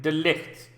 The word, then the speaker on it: de Ligt: gonna talk about Matias is that his name delete delete that's right I have been looking about to pronounce his name and that's how I understand you pronounce his name that is of course